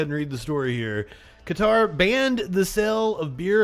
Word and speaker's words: Qatar: be held in uh Qatar is the way it's pronounced but apparently because we're in the United States we're supposed to say cutter but the world gov